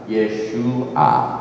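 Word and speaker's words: ישוע: 밥, 아인 그래서 예수와 요 밥하고 이 밥이 항상 붙는 글자는 우 발음입니다. 예수아 이렇게 되는데 이 히브리 말에 어제 나눠드린 그 알파벳 있죠?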